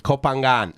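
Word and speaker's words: Koh Phangan: Kopangan. So you do pronounce the G. It's like a soft G.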